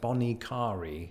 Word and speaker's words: Bonnet Carré: So the locals go with something like bonnet carré.